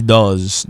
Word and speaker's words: does: On dit does. Avec le D majuscule, on dit does. OK, la prononciation est très forte. Does, OK? Donc voilà la position buccale.